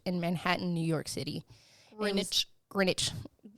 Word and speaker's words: Greenwich: Greenwich. It's spelled like Greenwich, but you know how they are.